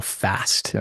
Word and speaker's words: FASTT: And that culminated into business solutions we call FAST, FAST Business Solutions. And FAST is an acronym, which is spelled FASTT.